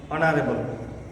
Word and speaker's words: honorable: অ্যান্ড is used before consonant, and ব্যবহার হয় কনসোনেন্টের পর ই, the first H of word is silent, an hour, an honest, an honorable.